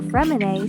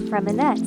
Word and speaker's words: Freminet: Also, Fremine still gets called Freminette sometimes.